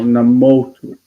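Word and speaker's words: נמוטו: 𝗕𝗏𝗦 𝗥𝗡𝗦𝗃 𝗥𝗡𝗦𝗃 Baal Namoto Pe'amai. And that is stressed on the right syllable, namotu. Namotu.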